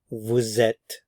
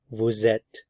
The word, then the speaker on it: vous êtes: Li so V vet normally we don't pronounce the S normally we just say Vu but because the vow follows we do pronounce the S so you have Vette Vette Vette notice I'm not